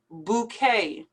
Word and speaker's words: bouquet: sensitivity bouquet also pronounced like the buffet ballet bouquet like an a or an a y at the end bouquet vehicle vehicle dehumidifier dehumidifier